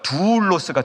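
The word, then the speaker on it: δοῦλος: 좀 길게 발음해야 됩니다. 두울로스가 종이에요.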